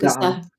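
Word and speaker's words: Kyrgyzstan: How do we pronounce it? Kystan. We are now jumping to Kyan which is in the same area as Kazakhstan if I'm not mistaken.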